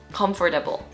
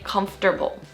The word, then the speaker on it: comfortable: The most common pronunciation mistake people make with this word is by saying comfortable with 4 syllables, comfortable. But the actual way that us native speakers say it is to shorten it into 3 syllables and say comfortable.